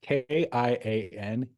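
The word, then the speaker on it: Kian Egan: Yeah, Kianegan. All right, spell that again for me. Ian Kian. Last name Egan, like Luke Egan.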